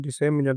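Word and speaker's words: disseminate: for citizens डिसेमिनेट डिसेनेट इसका pronunciation होता है डिसेमिनेट जिसका मतलब होता है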